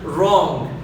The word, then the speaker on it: wrong: الدبليو لا يلفظ في الكلمات الشاذة التالية: كل دبليو وراها حرف ار لا تلفظ الدبليو، مثل كلمة wrong، والكلمة المتعارف عليها احنا